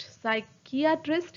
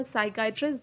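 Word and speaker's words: psychiatrist: साइकियाट्रिस्ट या साइकाइट्रिस्ट दोनों ही से प्रोनाउंस करते हैं।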